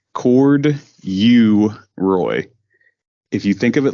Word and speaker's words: Corduroy: But if you think of it in 3 syllables, it's cord, the letter U, and Roy.